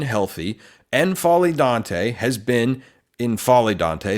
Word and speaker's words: N'Faly Dante: Because for the last several years, a long time, when healthy, N'Faly Dante has been, N'Faly Dante, I think is how you're supposed to pronounce it, Dante has been a one-man defense at times.